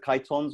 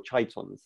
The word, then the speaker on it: chitons: We have also the cephalopods and the chitons or chitons. So you can pronounce, there are several pronunciations as we go through the presentation where you can actually give different pronunciations depending on where you're from or who you are.